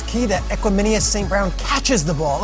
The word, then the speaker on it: Equanimeous: And you didn't say his name right. It's Equanimeous.